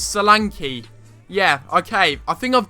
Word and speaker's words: Solanke: and also Dominic Salanki. It's not Solank, it's not Sanki, it's Salanki.